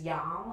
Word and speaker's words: yam: We will be incorporating a Sanskrit syllable that tunes the heart, which is yam, Y-A-M, yam.